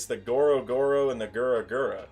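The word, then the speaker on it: グラグラ: Like, it's the Goro Goro and the Gura Gura, right? That's how you say it in Japanese.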